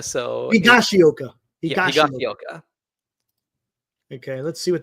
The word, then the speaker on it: Higashioka: Higashioka. So Higashioka.